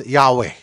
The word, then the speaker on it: Yahweh: You pronounce Yahweh.